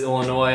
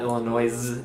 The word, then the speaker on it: Illinois: critic the crew there oh dear the correct pronunciation is Illinois I know if some people say it like illinois' is not illinois's the S is side on the end I